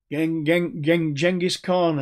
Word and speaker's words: Genghis Khan: great and the caesars genghis khan as my mongolian friends say i should pronounce the name um these people wanted